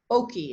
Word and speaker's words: Oaki: So I, Oki, it's spelled Oaki, and they make rain suits.